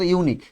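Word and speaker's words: unique: এটা বলতে ইউনিক ইউনিক দেখ উচ্চারণটা কি বল ইউনিক এখন প্রথমে আমাদের কি সাউন্ড আসে ইউ সাউন্ড আসে প্রথমে কি সাউন্ড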